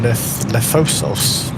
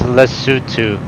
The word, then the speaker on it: Lesotho: We're flying Lefosos tomorrow. It's actually pronounced Lesotho. Oh, Lesotho.